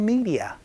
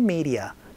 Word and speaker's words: media: I am into social media 라고 얘기를 해서 전 요즘 SNS에 완전 푹 빠져 살아요. I'm into social media라고 연습 한번 해봤습니다. 자, 여기에서 발음 팁을 하나 말씀드리면은요, 미디어가 아니고 아로 발음된다라는 거 조금 주의를 해주시면 좋을 것 같아요.